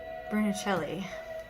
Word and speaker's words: Brunelleschi: Isn't it Brunelleschi? Brunelleschi.